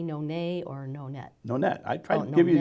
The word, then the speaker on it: Nonet: How come I want to say Nonet? Because people think it's French thing. Yeah. Okay. But it's like solo, duo, quartet, quintet, sextet, octet. Nonet.